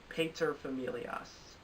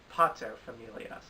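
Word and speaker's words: paterfamilias: for a Drama Series Stephen Daldry the crown Pater familias so I learned the correct pronunciation of that word because I believe in my nominations video I pronounce it as Pato Familia and finally Outstanding Drama Series Game of Thrones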